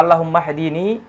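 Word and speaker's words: اللهم اهدني: তো যেহেতু আগের শব্দের উচ্চারণ রয়েছে, আল্লাহুম্মা শেষের বর্ণের উচ্চারণ আছে, সেজন্য এই হামজাতুল ওয়াসলের আর উচ্চারণ করতে হয় না, একসাথে হায়ের সাথে সংযুক্ত হয়ে যায়। তাহলে আল্লাহুম্মা হদিনি অর্থাৎ হে আল্লাহ, ইহদি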